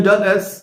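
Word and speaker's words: Dulles: Airport JF আর Washington উচ্চারণটা একটু ভিন্ন ডালাস না কিন্তু Washington ডস international airport ID সংক্ষেপে ডালা ওয়াশিংটন ডলারস এরকম উচ্চারণ এই এয়ারপোর্ট এই তিনটা এয়ারপোর্ট ব্যবহার করেই আপনি প্রবেশ করতে পারবেন।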